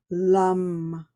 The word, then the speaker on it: Lam: It's spelled Lam, lum.